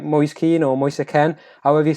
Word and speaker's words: Moise Kean: Sky Sports so facing fierce how do you pronounce his name it's a Liam it's gonna be moist a cane but in the Premier League I would be the oldest go with probably Moyes keen it's probably a bit simpler it's not an